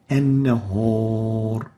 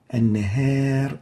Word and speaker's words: النهار: An-nahar is wrong, an-nahar is right. A is wrong, A is right here.